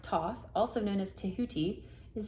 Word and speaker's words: Thoth: Thoth, and pronounced Thoth, also known as Tehuti, is the ancient Egyptian ibis-headed god of writing, divine magic, and the moon.